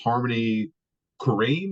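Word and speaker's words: Harmony Korine: like who's that guy who made Spring Breakers Harmony kareim is that how you say his name yeah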